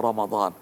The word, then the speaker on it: রমাদান: বলে নেওয়ার চেষ্টা করছি আমরা রমজানও বলবো না আমরা বলার চেষ্টা করব রমাদান কারণ আল্লাহর উল্লেখ করা